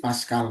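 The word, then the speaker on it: pascal: Jangan PA gitu ya, tapi paskal ya, 200 pasal.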